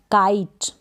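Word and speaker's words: kite: Last में ई को pronounce नहीं करेंगे, समझ में आ गया। के को क, आई और ट, काइट।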